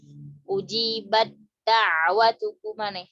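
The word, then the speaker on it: أُجِيبَت دَّعْوَتُكُمَا: Ujibat da'watuku mana? Gimana cara ngucapinnya? Ujibat langsung masuk ke dal. Ujibat da'watukuma.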